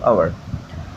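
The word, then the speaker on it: hour: আওয়ার শব্দটি হচ্ছে আমার এখানে দেখো এইচ উচ্চারিত হয়নি এই কারণে কি বসলো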